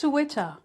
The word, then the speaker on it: Suchwita: It's just Switcha. Switcha. Right. Switcha. I keep saying like Wichita. It's Switcha. Okay. So today Wichita. we're looking at Switcha.